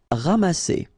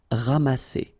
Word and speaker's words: ramasser: Ramasser. Remember, double S here between two vowels. Here you get a strong S sound, okay? Ramasser.